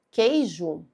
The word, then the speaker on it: queijo: Se eu falo queijo, esse QU aqui são duas letras que formam um dígrafo, porque eu não falo queijo, eu falo queijo, um som só.